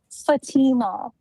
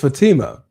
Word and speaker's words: Fatima: Fatima. It's Fatima.